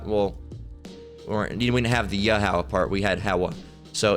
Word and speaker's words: Yahweh: All right, but you wouldn't pronounce it like that. All right, you would cut this part, because the ha at the end is just signifying the sound, Yahweh.